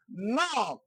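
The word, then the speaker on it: knock: নক, খে এন ও সি খে, নক। নক অর্থ হচ্ছে টোকা দেওয়া। এখানে দেখেন খে বাদ দিয়েছে, থেকে রিমুভ করা হয়েছে, তাহলে এখানে উচ্চারণটা নক হয়েছে।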